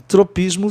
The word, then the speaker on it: tropism: Olha, não daria certo para você pronunciar trapecism, porque existe o grupo consonantal, SM no fim, de capitalismo, capitalism, comunismo, communism, orgasm, onde você pronuncia SM com som de zan, entendeu? Não é uma outra sílaba, tá certo? Está dentro de uma sílaba, da sílaba isme, ó, tropism, tá? Você só conta 2 sílabas aí na palavra tropismo, tropism.